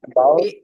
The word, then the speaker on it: doubt: There cannot be cannot be any any cannot doubt, be doubt এখানে about ডাউট, about it. হ্যাঁ বি এর উচ্চারণটা হবে না, বিটা সাইলেন্ট থাকবে, ডাউট, ডি ও ইউটি এর উচ্চারণটা হবে, ডাউট অ্যাবাউট ইট।